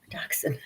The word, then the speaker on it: dachshund: Dachshund. Where'd I see that? Well, it says dachshund, but it's pronounced dachshund.